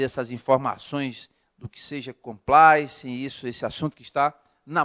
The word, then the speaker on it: compliance: Não, a pronúncia vem do inglês. Ela é uma palavra originária da língua inglesa. Sim. O termo é realmente compliance.